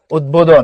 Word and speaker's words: উদ্বোধন: যেমন উদ্বেগ, এই যে দেখো, উদ্বোধন, এই যে উদ্বোধন, ক্লিয়ার? এখানে তাহলে উচ্চারণ হয়, এটা তাহলে কোনটা লাগছে?